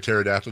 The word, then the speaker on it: pterodactyl: You can't hear a pterodactyl go to the bathroom? Why is that? Because the P is silent.